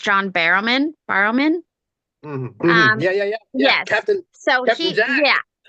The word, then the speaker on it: John Barrowman: So I do believe his name is pronounced John Barrowman.